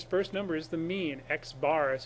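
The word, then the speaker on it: x̄: X bar is how we pronounce that.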